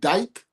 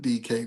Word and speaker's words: DK: A nigga named Dyke? Well, they pronounce it DK, but I call him Dyke because it should sound funny.